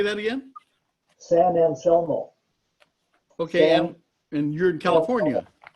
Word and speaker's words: San Anselmo: San Anselmo. Aha. Yeah, see, my eyes are getting bad too. Yeah. How do you say that again? San Anselmo.